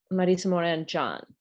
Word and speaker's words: Marisa Morán Jahn: grew up so um you might hear my name pronounced marisamore and John all right so um